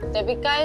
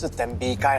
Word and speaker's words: tembikai: All I know is that tepika is a fruit It's tembikai It's a watermelon, not a Pokemon's name Can you pronounce it better?